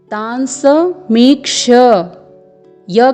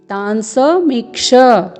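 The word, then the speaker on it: तान्समीक्ष्य: तो यहाँ पर आपको तांस मीक्ष य का उच्चारण करना है, न कि तांस मीक्ष।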